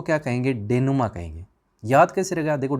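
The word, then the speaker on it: dénouement: ये डेनोमेंट आपको लग रहा होगा, लेकिन सही करेक्ट जो प्रोनाउंसिएशन है वो डेनुमा है, याद रखिएगा।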